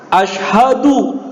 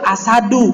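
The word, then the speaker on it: أشهد: Jadi enggak boleh salah misalkan Asyhadu ada yang kita sering dengar itu Ashadu dah jadi nanti artinya beda Asyhadu sama ashaddu nantikan beda artinya ya makanya orang yang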